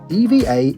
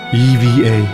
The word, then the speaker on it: EVA: Really, EVA is pronounced just like that. It's not ever air or either air. If you don't believe me, here's their own advert. Change the way you see the world. Evva Air.